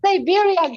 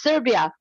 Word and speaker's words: Serbia: uh so dear it is not Siberian for God's sake it's Serbia Siberia is part of